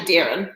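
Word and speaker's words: Deron: in the iran so that's spelled to d e r o n but it's actually darren but it's okay oh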